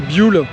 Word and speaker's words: Buell: Jul j'ai appris que ça se prononcer bule avec la chaîne moto